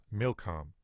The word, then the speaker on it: Milcom: Milcom. It doesn't seem real similar in the way that I'm pronouncing it, but the Hebrew letters are nearly exactly the same.